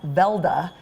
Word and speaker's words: Weldy: your history of the Weldy bears actually goes back to the early 1920s yes and they ended up in Hollywood that's right my husband's grandfather Johnny Johnson well D actually pronounced Velda in Norway came from Norway with